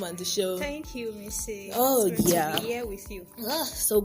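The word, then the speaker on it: Mici: that you call me missy mrs m-i-c-i and pronounced m-i-s-s-y that's right you need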